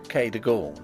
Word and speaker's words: Cadogan: Improbable as it may appear, my housekeeper was called Cadogan, a name made locally possible by being pronounced Cadogan.